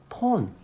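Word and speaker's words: phone: 폰 이지. 폰 어떻게 했어? P O 폰이라고 읽죠. 근데 내가 이렇게 써 볼게. 이거 어떻게 읽어? 얘도 폰이라고 읽어. 근데 왜 H를 왜 넣어?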